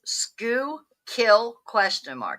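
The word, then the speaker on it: Schuylkill: Greywolf says, "Scoo kill."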